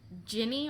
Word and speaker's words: Ginny: The first time that Ginny Weasley was introduced, I hit her with that Guinea Weasley. And she was like, oh, no, it's Ginny.